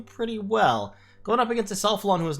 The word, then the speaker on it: Isalphalon: One second, how do I pronounce that again? Isalphalon, that's right, here as Blood Isal, versus MrProgressor.